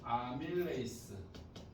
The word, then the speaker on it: 아밀레이스: 아밀레이스 다른 거예요. 왜 같은 거예요? 예전에 아밀라제라고 불렀는데 이걸 이제 원어 발음 비스무리 한 바꿨어.